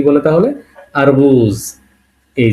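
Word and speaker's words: арбуз: এ হলো রাশিয়ানে আ, এর উচ্চারণটা কি? আ। আ থেকে আবার একটা শব্দ বের করেছে, সেটা কি? আরবুজ, এ আ এর, আর বে উ বু আর জি, তাহলে কি হলো?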